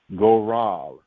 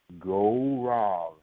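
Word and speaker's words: גורל: is the word and for lot it is pronounced go wrong go wrong go wrong that is the equivalent to the Babylonian borrowed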